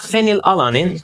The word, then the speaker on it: phenylalanine: In the case of phenylalanine, the P and H are pronounced F.